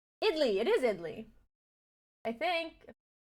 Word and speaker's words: idli: is American pronunciation though give me you know whatever language this is pronunciation idly okay it says idly okay perfect idly pronounce idly you can